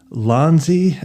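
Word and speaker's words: Ulanzi: This is Lonzi uh and it's spelled u L A N ZI.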